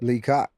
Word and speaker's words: Lee Coc: I pronounced it correctly. Lee Coc.